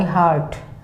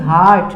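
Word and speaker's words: heart: Very close to माई हार्ट। It's true, my mummy is very close to माई हार्ट। हार्ट, this is the pronunciation of this word is हार्ट, नॉट हर्ट, don't pronounce it हर्ट।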